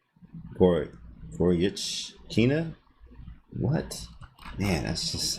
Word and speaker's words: Goryachkina: The CH in her name pronounced like a CH in chew. Goryachkina?